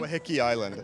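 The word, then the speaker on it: Waiheke Island: But he'll be proud of me for finally pronouncing the place. It's called Wahiki Island. So say that again. Wahiki Island.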